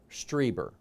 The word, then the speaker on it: Strieber: that Strieber has said streamer that's how he pronounces that my apologies he's written